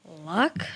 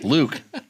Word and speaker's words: Luc: I hope you say his name right. Luck? Luke. What? Luke. That's how you spell it. I love it. It's Luke. It's L-U-C. Yeah, that's Luke. It's the European spelling of Luke.